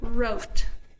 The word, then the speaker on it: wrote: Remember the K is silent. 3, 2, 1, kneel. 3, 2, 1, wrote, like I wrote a letter.